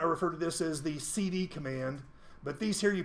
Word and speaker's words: cd: Now, sometimes I'll hear people refer to as the change dur the change dur often as not I refer to this as the cd command.